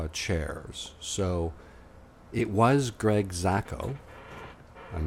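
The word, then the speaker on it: Jaczko: It's pronounced Jasko. Wow. Yeah, I think it's Yasko Yasko, I think is how Greg Yasko.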